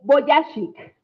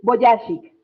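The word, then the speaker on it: Vujicic: Se pronuncia, eh, ya lo perdí. Eh, Boyashik, Nick Boyashik, ¿quién es?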